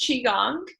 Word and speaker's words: qigong: So it's pronounced Qigong.